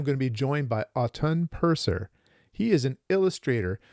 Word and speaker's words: Autun: It's a town in France, but I actually say Autun. That's what I normally say, because that's the Autun. autumn. People call me Autumn.